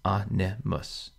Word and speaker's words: animus: Animus is like amicus, three syllables, animus.